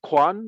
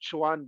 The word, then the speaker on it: Quan: My name is Quan. I understand why you pronounce Chuan, because in Pinyin it would be Chuan, but it's Quan.